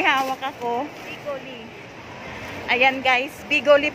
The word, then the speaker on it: Bigoli: Ayan guys, Bigoli po pala yung tamang pronounce doon.